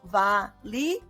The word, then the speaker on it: valioso: Então, ele é muito valioso. O zó a gente não contou. Por quê? Porque valioso é uma palavra paroxítona. A sílaba tônica é o, a penúltima. Então, o zó é uma sílaba átona.